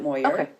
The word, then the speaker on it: Moyer: moer um it's actually it is a French name but it's become uh angiz and so I pronounce it moer moer and then and then